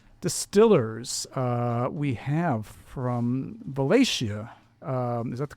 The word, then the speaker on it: Valatie: Uh we have from Valatia. Um is that the correct pronunciation, Derek? Valicia, New York.